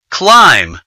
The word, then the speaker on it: climb: in the following words climb the silent letter is B Bridge the silent letter